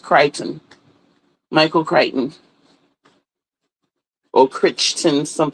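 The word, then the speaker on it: Crichton: And yes, his name is Michael and it's pronounced Kryton. Michael Kiteon or Christian. Some people say it's not Christian, it's Kiteon.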